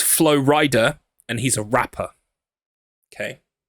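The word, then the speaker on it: Flo Rida: going to come up it's pronounced Flow Rider and he's a rapper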